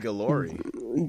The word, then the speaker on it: Guillory: I said Guillory.